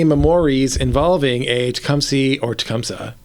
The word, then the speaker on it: Tecumseh: you have any memories involving a tumy or tumsa how do you pronounce it Tumi or tumsa okay so it's supposed to be